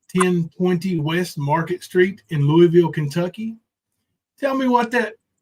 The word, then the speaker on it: Louisville: they do it long you don't put s in it and say Louisville